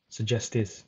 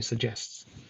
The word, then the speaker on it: suggests: errors so for example the word suggests she has a trouble trouble saying this word it ends up sounding like suggested suggestives which is incorrect she wants to say suggests so that's a small